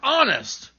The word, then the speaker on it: honest: o u r hour other words that begin with silent h are honor air and honest and i know of